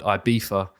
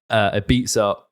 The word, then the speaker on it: Ibiza: knew it all along, that Ibiza is the American pronunciation, and then the Spanish say Ibiza. So they say it with the F, not the Z.